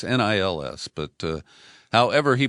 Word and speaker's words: Nils: But what they show is that Nils Melzer, I hope I'm pronouncing it, I've heard it said Niles, so it's Nils, but however he pronounces